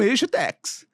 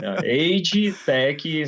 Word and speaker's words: agetech: nos assistindo nos ouvindo que é a expressão e Tex né pronunciei correto aqui você que é um Expert né minha pronúncia tá boa Tá certíssima tá aid Tech são eh empresas Ou startups focadas em desenvolver